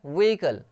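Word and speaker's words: vehicle: वैसे ही आप इसको देखिए व्हीकल, व्हीकल में एच साइलेंट है, व्हीकल, व्हीकल एच साइलेंट है, व्हीकल नहीं बोलते इसको, व्हीकल, where is your व्हीकल, व्हीकल, व्हीकल, ठीक है, वाहन।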